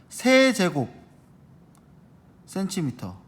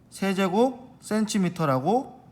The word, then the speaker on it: 세제곱 센티미터: 1, 아까는 제곱이었는데 여긴 3이죠. 세제곱 센티미터. 다시 1 세제곱 센티미터라고 읽습니다. 1 세제곱 센티미터. 제곱 앞에 세자, 3번이라는 것만 붙은 거예요.